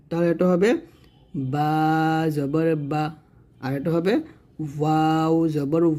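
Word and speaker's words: ب: বা এটা হচ্ছে ওয়াও বা যখন উচ্চারণ করবেন দুইটা ঠোঁট মিল করে উচ্চারণ করবেন আর ওয়াও টা দুই ঠোঁট গোল করে উচ্চারণ করবেন তাহলে এটা হবে বা জবর বা আর এটা হবে ওয়াও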